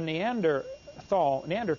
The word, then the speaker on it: Neanderthal: By the way, in case you don't know, the Neanderthal, the H is silent, Neanderthal man is named